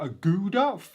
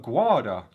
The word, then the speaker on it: Aguada: Upon visiting the fort, I had no idea how to pronounce the name correctly. I kept calling it Fort Aguada. Fort Aguada. It's actually Fort Aguada.